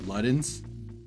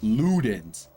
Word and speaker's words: Ludens: you listen to a song and call it Lutens? Because that it's spelled L U D Ns, right? Lutens. Ludens. Lutens. Okay. That's what it looks like to me. Uh yeah. Then the final song. Uh pronounced Ludens.